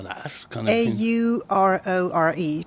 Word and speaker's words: Aurore: Aurore. Just like the Sleeping Beauty.